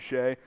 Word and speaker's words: Shea: lee uh he says my name is shea but it's spelled okay i got you got you shay uh warriors from denzel